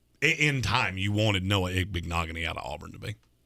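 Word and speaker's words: Igbinoghene: Igbignogany? Yep. I said that name wrong for an entire draft season, so I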